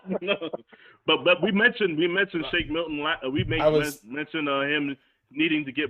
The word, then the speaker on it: Shake Milton: Shake Middleton, I believe his name is. Shake Milton.